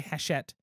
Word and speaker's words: Hachette: of hachette games yes which is the French word for Hatchet so if you hear me say Hatchet games it's because it's easier to me to pronounce and I will forget to say heshet because French is confusing yes but yes so